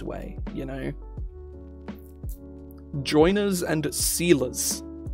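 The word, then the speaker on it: seiler: Joiners and sealers. Like sealer spelled like ceiling. A sealer, S-E-I-L-E-R.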